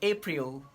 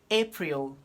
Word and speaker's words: April: you're trying to pronounce so instead of apri you say april school school school little